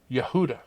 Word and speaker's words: Yehuda: be praised and Hebrew Judah is pronounced Yehuda now when we get